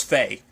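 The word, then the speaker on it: Fei: how they were handling i should have figured it wasn't fee because i i know how fee is spell it's like fie just because of trails of code still but um but it's faye um and i guess i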